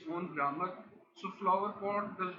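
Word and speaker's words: flowerpot: It is pronounced as a unit with a single main stress.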